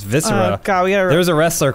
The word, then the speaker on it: viscera: Roth it's viscera it was a wrestler called viscera that's the only reason I know how to pronounce any of these tough words this syrup